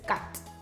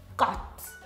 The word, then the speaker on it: kat: And how it's pronounced is ka, a, da. So in English it's cat, in Afrikaans that is kat. Ka, a, da. Kat.